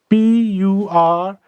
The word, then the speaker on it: purchase: दूसरा शब्द मान लीजिए ये है PURCHASE, people pronounce it as purchase, even teachers. But it is not purchase, it is purchase. There is no Z, it is sa sound, purchase.